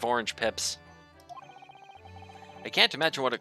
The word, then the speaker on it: orange pips: I was putting the emphasis on the wrong syllable, as multiple of my grade school teachers used to say. It's orange pips, as in orange seeds.